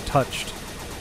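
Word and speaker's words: touché: French oh is it not supposed to be pronounced touche it is touche oh it's actually from the verb to share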